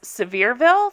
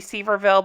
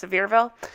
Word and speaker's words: Sevierville: with it's actually pronounced sevierville that's how the i believe the locals pronounce it it looks like it should be seaverville but it's sevierville and and and bonus